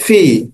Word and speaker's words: phi: atau bisa gunakan pakai v ya Nah kalau kalian pahami ini bacanya V tulisannya bagaimana tulisannya adalah phi oke ya phi simbolnya seperti